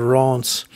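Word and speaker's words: Reims: traveling through uh re well it looks like reams to me but i think it's pronounced ron's we will be stopping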